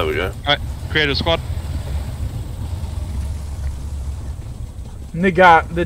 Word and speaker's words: Nagant: Nigat, the T is silent. Really? Bun. I love how we've got five say it out loud. Tank squads. Yeah, Nagant? Yeah, the T is silent. It's Russian.